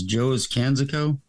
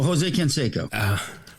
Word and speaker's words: Jose Canseco: Well, let's see if I can pull it off with, how do you say this? Joe's Canseco? Oh, Jose Canseco.